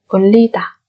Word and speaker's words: 올리다: Hai cái riêng chúng ta sẽ đọc thành L. 올리다.